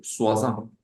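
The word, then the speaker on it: soixante: sería el número 60 pero si se dice swasan y luego se dice el número del 10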